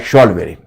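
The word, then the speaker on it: Zollverein: pronounce एश होता है लेकिन वो लिखा जाता है जेट जॉल वेरिन बट इट is pronounced as शॉल वेरिन so this is द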